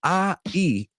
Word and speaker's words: aisle: tercera, Laura, que es A-I-S-L-E. So hay tres cosas que suenan así. I'll call you later, I'll. Okay, I'll, isla, as Laura wrote, and then aisle, y los tres se pronuncian exactamente igual.